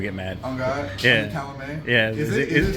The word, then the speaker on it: Calumet: Calumet. That T's silent.